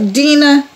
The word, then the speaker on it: dinner: Porque, porque o R em inglês no fim da palavra tem som de R.